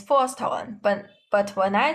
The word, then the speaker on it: 不: But when bu is followed by a syllable in the fourth tone, like this, fourth tone, then the sound of it changes into the second tone, which is bu.